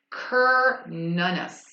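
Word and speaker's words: Cernunnos: uh oh my bad it tells you how to pronounce it right here y'all cur nunus carnes also known as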